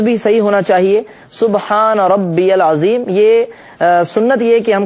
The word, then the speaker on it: سبحان ربی العظیم: پڑھتے ہیں وہ سبحان ربی العظیم، اس کا تلفظ بھی صحیح ہونا چاہیے، سبحان ربی العظیم۔ یہ سنت یہ کہ ہم کم سے کم